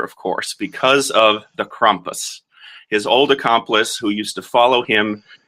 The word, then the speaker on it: Krampus: wonderful Christmas legend called Krampus. I think I'm pronouncing it right. That's how Christoph Waltz pronounces it, and that's what I'm going to stick with.